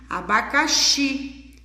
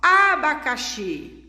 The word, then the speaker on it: abacaxi: por exemplo aqui eu vou falar uma palavra que não é acentuada como por exemplo abacaxi a tia eu não sei qual que é a sílaba mais forte Então você chama uma palavra você separam sílabas igual e a aba bacaxi então vocês vão chamar a primeira sílaba abacaxi não ela não é a mais forte ela não é a tônica a gente não fala abacaxi abacaxi abacaxi que